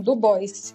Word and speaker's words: Du Bois: E para relembrar também uma forte citação do William Du Bois, ele pronunciava assim, Du Bois, e não no francês, que foi um historiador